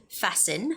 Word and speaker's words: fasten: syllable stress and the word fasten you do not make the sound for the t fasten fasten and also when you're saying